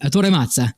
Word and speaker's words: Ettore Mazza: 1,000 this week after Ettore Mazza. I'm sorry, he said Ettore Mazza is how you say his name.